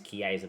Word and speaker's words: Chiesa: It is Chiesa, by the way, not Kezia.